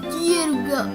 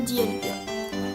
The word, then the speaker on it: Dialga: aussi un Pokémon légendaire il se prononce dielga en japonais mais en français ça donne Dialga alors lui il est